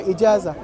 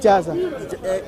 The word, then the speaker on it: Ijazah: How do you pronounce it? Ijazah. I-J-A-Z-A. Yes. Ijazah.